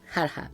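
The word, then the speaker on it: Ghargha: Estábamos en el lago Garga, tú y yo, Jarja, viene a ser, ¿no? Jarja se pronuncia.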